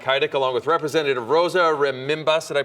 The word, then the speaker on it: Rebimbas: I'm Heidick, along with Representative Rosa Rebimbas. Did I pronounce it correctly?